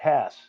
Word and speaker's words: Haas: There could be an HASS that even pronounces that way, but this name came from Denmark, and my granddaddy, he was adamant that we pronounced it Haas.